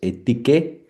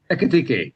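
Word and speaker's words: Ekitiké: It would be a great signing for Liverpool, although they already got what Etike. Let me say it correctly. I have to find the name. Ekitike. Ekitike. So yeah, that's two strikers, or more or less two strikers.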